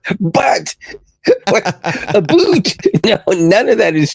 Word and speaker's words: but: It's spelled B-U-T, like the word butt. You're absolutely right. My apologies. I was focusing on the literal translation. and miss the colloquial hockey term you're referring to. You're thinking of butt, pronounced like boot.